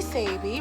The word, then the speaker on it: Sabi: Oh, sorry, I'm Sabrina, but everyone calls me Sabi, rhymes with baby, and this is my dad, Chris.